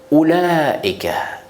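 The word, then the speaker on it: أولئك: Ces mots-là, comment on récite? On récite Ulaika, Ulaika. On ne peut pas réciter Ulaika, par exemple, c'est faux ça.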